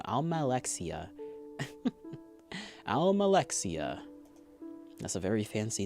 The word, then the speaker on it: Almalexia: Almalexia.